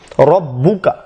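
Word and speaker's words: رَبُّكَ: এই ফাআলা এই জন্য বলা হচ্ছে যে এখানে আইন এর আইনের বিপরীতে স্বরটা নেশা হয়েছে, এই জন্য উচ্চারণের সময় ফাআলা। রব্বুকা রব্বুকা এখানে বায়ের উপর তাসজিদ রয়েছে আর এই জন্য এখানে ডবল ব নিয়ে এসা হয়েছে রব্বুকা, তাহলে উচ্চারণের সময় রব্বুকা হবে।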